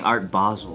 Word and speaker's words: Art Basel: I shaking right no it's not basil or basil I specifically looked up people saying it to make sure I was saying it right and they're saying Art Basel all right what about